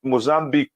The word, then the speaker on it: Mozambique: again in between uh South Africa and mozam Mozambique way that's the correct way to pronounce it and Mozambique we're off front of